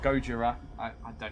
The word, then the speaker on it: Gojira: rename your Lord to go Gojira Gojira to pronounce the Japanese I get what you're